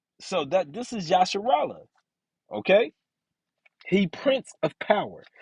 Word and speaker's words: Yisrael: Yisrael. Yisrael. That's not how it's pronounced. Yasharallah.